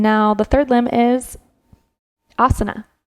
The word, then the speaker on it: asana: So we did the first 2 limbs, niyamas, and now the third limb is asana. It's not asana, right? The A's all sound the same. Asana. It's asana. Those are the poses.